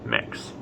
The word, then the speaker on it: Mx: use the honorific mix that's mx pronounced mix since we're on the